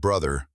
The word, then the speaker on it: brother: The TH sound in the middle of brother can be difficult for many students.